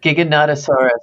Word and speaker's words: Giganotosaurus: His stories and essays have appeared in Apex, Realm, Galaxy's Edge, I don't even know how to pronounce it, Giganotosaurus? Giganotosaurus? That's it. That's it? Giganotosaurus.